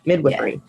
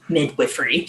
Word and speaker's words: midwifery: reasoning behind it but I have only ever heard it pronounced like midwives Midwife Midwifery so I'm playing badminton